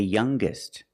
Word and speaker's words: youngest: The youngest again with the g sound.